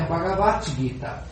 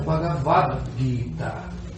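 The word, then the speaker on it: भगवद्गीता: Por isso que é, não é bagavate guita, é bagavato, guita.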